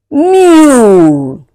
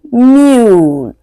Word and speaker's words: mule: To pronounce this word, this is mule. You can hear the sound of U. U, mule. Whereas, the next vowel there, E, goes silent.